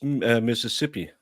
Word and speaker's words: Mississippi: earlier hearings no Jamie said it wrong it's Mississippi and when you arrived at the crime scene